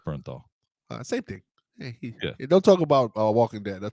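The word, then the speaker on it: Bernthal: Hey, by the way, if you don't know, John Berthanol is in that movie as well. I'm like, uh, did I say his name right? Berthal. Berthanol. It's It's just Bernthol.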